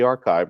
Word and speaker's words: arXiv: to pronounce it but the archive right it's it's ar ar ziv it's arxiv that that's the place where